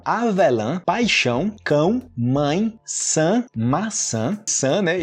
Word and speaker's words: maçã: E o maçã, o sã com S e o maçã com C cedilha, o mesmo som, né? A mesma pronúncia. Você, ó, interessante isso, esse san, né, com o C cedilha, o mesmo som desse S no começo.